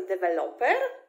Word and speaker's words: develop: Ale jeśli mówimy po angielsku, to po angielsku ten akcent się nie przesuwa i on jest na vel, czyli develop, develop. I on zostaje na vel we wszystkich słówkach z tej rodziny, czyli developer, development, rozwój, development.